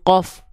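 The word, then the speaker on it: ق: Kalau dia nempelnya semuanya terlalu ke dalam ke sini berubah huruf dia jadi huruf apa? Jadi huruf qof. Qo qi qu.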